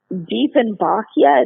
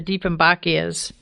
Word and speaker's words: Dieffenbachia: The next one, another one that I may butcher the name of, Dieffenbachia.